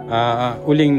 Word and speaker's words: Ulin: Uling na lang, Ulin. Hindi po Uling no, Ulin.